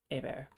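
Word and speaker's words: Hébert: no it's okay um h-e-h-e-b-e-r-t hey bear is that french yes it is how dare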